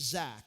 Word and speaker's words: Zach: so my name is Zach it's spelled the proper way okay z-a-c-h naught z-a-c-k and so I had these buddies and they would actually say my name phonetically so they would say Zatch and whenever I heard